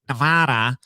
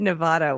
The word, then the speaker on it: Nevada: You were pronouncing Nevada wrong. I did it for years, too. Key word is were back when I say it like Nevada. But it is Nevada. That is correct.